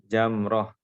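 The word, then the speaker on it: جمرة: Jadi yang benar jimnya adalah di fathah, bukan di lumah. Jadi bacaannya jamroh, jamrotul aqabah, jamroh wusto, jamroh sugro, jamroh kubro. Ya, tidak seperti yang tidak seperti ejaan bahasa Indonesia ya. Dalam bahasa Arab yang benar adalah jamroh.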